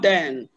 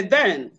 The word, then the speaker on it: then: practice the second version say after me then then no not then say then they then then then good say those bells